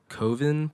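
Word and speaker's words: Köthen: It's called Koven, but it's spelled Kothen.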